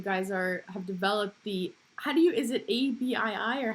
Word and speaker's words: ABii: So now bring me, as Van Robotics is growing and you guys have developed is it ABII or how do you pronounce it?